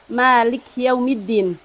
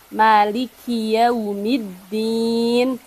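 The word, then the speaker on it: مالك يوم الدين: di huruf Kaf di huruf Kaf jangan sampai terlihat berharokat sukun Malik yaumiddin tapi disempurnakan harokatnya Maliki yaumiddin Maliki yaumiddin terus ayat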